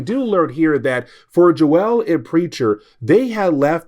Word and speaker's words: Joelle: And that would be Joelle. Now, technically for me, I kind of feel I said the name wrong. I did look it up and Google said like, "Hey, it's pronounced Joel. It's French."